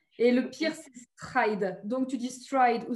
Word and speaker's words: Stride: Stride. Est-ce que je prononce bien ton nom de famille? Alors, en français, on va dire stride parce que c'est anglais et que tu sais que